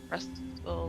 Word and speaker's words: wrestle: Yeah, And the T is kind of silent. Wrestle. yeah, it's 100% silent. It would be wrestle. With WRASSL. Wrestle. Wrestle. Not even W, just R. Yeah, R W E silent S as well.